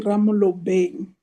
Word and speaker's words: Ramolobeng: It's A K Ramolobeng. I understand the difficulties in pronouncing my surname.